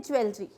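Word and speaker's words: jewelry: अब आता है एक और वेरी इंपॉर्टेंट वर्ड, जैसे हम बोलते हैं ज्वेलरी। ज्वेलरी बहुत रॉन्ग प्रोनाउंसिएशन है, इट इज़ ज्वेलरी, री, री, कैसे बोलेंगे हम इसको? री, ज्वेलरी, ज्वेलरी, ठीक है।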